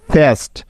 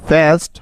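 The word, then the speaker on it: fast: কিন্তু না, এই শব্দটার উচ্চারণ ফেস্ট হবে না, বরং এই শব্দটির সঠিক উচ্চারণ হবে ফাস্ট, ফাস্ট। কেন হচ্ছে দেখো, কারণ এই যে AST, এই AST হলো একটি ওয়ার্ড প্যাটার্ন, এটার একটা নির্দিষ্ট সাউন্ড আছে।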